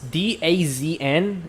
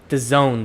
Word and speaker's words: DAZN: All right, it's DAZN. It's pronounced the Zone though.